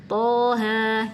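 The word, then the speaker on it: طه: ini di juz 16 Thaha nah ini suka keseliru ya karena kita seringnya baca huruf-huruf yang lain itu panjang jadi kita di sini bacanya panjang juga 6 harakat padahal enggak di sini bacanya cuma dua harakat aja thha gitu lanjut yang terakhir Alif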